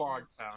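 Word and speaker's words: Loguetown: Logtown. Just- As in prologue and epilogue.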